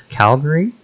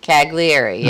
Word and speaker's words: Cagliari: me mm-hmm i think we're going to this calgary calgary calgary cagliari calgary that's how you say it cagliari all right so willembork and there's the polos